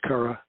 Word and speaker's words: Chara: tells me it's spelled it looks like it's pronounced chara but it's based on a greek word so it's kara i i go either